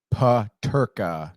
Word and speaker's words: Peterka: And it's Peterka.